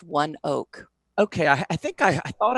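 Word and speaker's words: ONEOK: It's pronounced One Oak.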